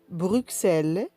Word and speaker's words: Bruxelles: Nous avons X qui se prononce S dans quelques cas particuliers comme Bruxelles 6 10 60. Dans ces cas de figure, on écrit X mais on prononce S.